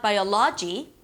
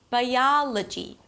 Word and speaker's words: biology: Although there is an O here, it's not biology, it's not logy, and it's definitely not biology, right? It's biology. Technology.